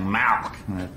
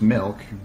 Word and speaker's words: milk: No, you're saying it wrong. You're saying Malk, like it's a disease. How do you say it? I'm saying it the way everyone ought to say it. Milk, M-I-L-K.